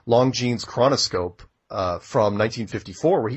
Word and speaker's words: Longines: Watch the Longines, pronounced that wrong, Longines chronoscope from 1954, where he goes on national